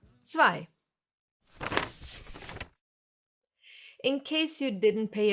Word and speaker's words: zwei: E and I together get pronounced as I, like in sky, for example. It's a German diphthong, and no, it has nothing to do with a small piece of underwear. It's two or more letters that always get pronounced the same way when they are together, like here, I. Zwei.